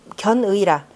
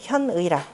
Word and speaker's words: 현의: 여기 두 가지 조항에서, 견의라. 이두 가지에서 바로 그 의리, 의견을, 뜻을 드러낸 것이라. 견의가 아니라 현이라고 읽어야 되겠죠. 현의라.